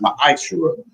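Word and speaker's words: מעשר: Malachi 3:8-10 means tenth in the Hebrew and is pronounced maishur.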